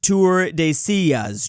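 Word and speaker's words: Tordesillas: It's pronounced Tour de Sillas, Drew.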